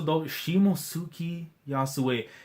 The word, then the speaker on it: Shimotsuki Yasuie: Hold on, let me pronounce this properly. Shimotsuki Yasuie.